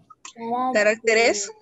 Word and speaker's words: caracteres: Caracteres. Caracteres. Ajá. Ahora se vuelve, mira, carácter es palabra grave, ¿cierto? Acá también es grave, pero el acento ahora está en la sílaba T, ¿sí?